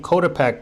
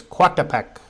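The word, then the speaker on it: Coatepec: the hill back into cek I was saying cotek but it's quat AEK it's spelled coat AEK co8 but it's pronounced quat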